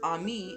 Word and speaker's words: Amy: We say Amy, but in French it's Ami, and Ami means friend.